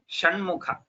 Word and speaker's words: Shanmukha: So this Sha is different from this Sha.